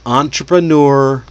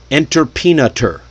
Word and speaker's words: entrepreneur: Because it's not an English word. It's a French word. It's fancy. It's got too many vowels doing questionable things. So break it down into the beats. Entreneur. Say it slowly at first, then speed it up.